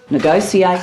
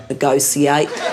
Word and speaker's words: negotiate: as long as you learn how to say the word negotiate I mean no one says propitiate one never hears initiate you know we don't appreciate it when you say negociate you've never said substantiate